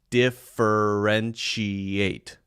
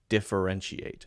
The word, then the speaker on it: differentiate: just say it more slowly to get the pronunciation that might be a tough one differentiate de for n she ate differentiate okay two other things very quickly before we